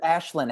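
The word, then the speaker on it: Ashlyn: comfort in each other Ashlin Harris ashin Harris Ashlin I'm sorry Ashlin Harris you're right um and so they've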